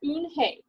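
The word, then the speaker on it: Unhei: turned to joey she nodded slowly yes it's pronounced un hey and it means grace mr kim added joey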